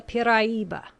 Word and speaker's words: Piraiba: It is called the Piraiba, pronounced in 4 syllables.